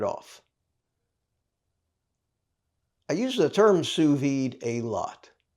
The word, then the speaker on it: sous vide: you sear it off I use the term sued a lot it's spelled s o u s v d e